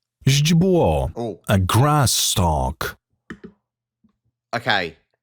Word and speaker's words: źdźbło: Źdźbło, Oh, a grass stalk. okay. I can certainly understand why this one is difficult to pronounce. Ź is a ź sound.